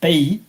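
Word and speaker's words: pays: So pay P A Y S P.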